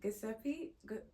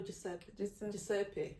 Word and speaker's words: Giuseppe: Giuseppe? No, Giuseppe. What? Giuseppe. So it's Joseph. It's Joseph. So it's Joseph. What? Yeah, that's the Italian version of Joseph. So it's just Giuseppe. Giuseppe.